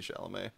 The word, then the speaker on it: Chalamet: I also say Timothy Chalamet because that's just easier to say, but I think it's pronounced Timothée something. No, it's Timothy Chalamet.